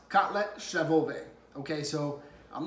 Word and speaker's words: kotlet schabowy: and number three was breaded pork chops it's pronounced cutlet Chef obey okay so I'm not gonna use that term